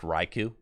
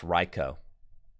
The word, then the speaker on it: Raichu: Do you know that this Pokemon is not pronounced Raichu? It's pronounced Reicho.